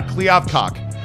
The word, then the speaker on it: Kliavkoff: Yeah, Kliavkoff.